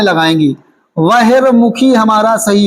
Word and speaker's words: बहिर्मुखी: एक वर्तनी आपकी परीक्षाओं में बेहद महत्वपूर्ण है बहिर्मुखी कौन सी बटनी है आपकी परीक्षा में आई हुई है बहिर्मुखी बहुमुखी थोड़ी लिखना है हमें क्या लिखना है यहां